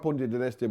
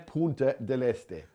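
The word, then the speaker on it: Punta Del Este: Punta dell'Este. Punta dell'Este. Can you spell it first? Punta. Yeah. Then a break, obviously. Del, as in Del Boy, D-E-L. And Este, E-S-T-E.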